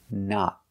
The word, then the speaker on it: not: actually used or not we cannot say not we use the short sound ah like hot and stop the short a sound not not the correct pronunciation is not use a stop T at the end and a short o not let's talk about the